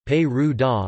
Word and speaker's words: Perugia: Perugia, Italian pronunciation, Perù-da, listen, Latin, Perusia, is the capital city of